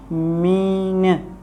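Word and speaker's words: mesne: कौन सा वर्ड है, फ्रेंच वर्ड है, जिसकी प्रोनाउंसिएशन जो करेक्ट प्रोनाउंसिएशन होगी वो होगी मीन।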